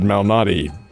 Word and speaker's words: Malnati: Let's see he pronounces it Malnati.